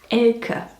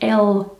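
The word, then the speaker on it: Elke: Anyway, the name is actually pronounced Ela, more like Ela, you see.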